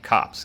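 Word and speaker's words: copse: word of the day cops a small group of tree pronounced kind of like cops kopps thank you giving us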